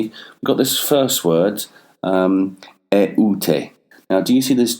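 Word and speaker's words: ἠΰτε: And it shows that the two vowels have to be pronounced separately.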